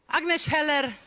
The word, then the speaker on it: Agnes Heller: not on my side Agnes Heller that's the proper pronunciation I would say is